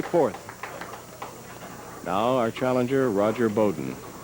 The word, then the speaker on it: Beaudin: Now our challenger, Roger Beaudin. Name is spelled B-E-A-U-D-I-N, but that's how he pronounces it, rather than what the pure French, I guess, would be Beaudin.